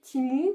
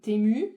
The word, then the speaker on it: Temu: vous expliquer le site timu qu'est-ce que c'est ou temu tout dépend comment on choisit le prononcer qu'est-ce que c'est pour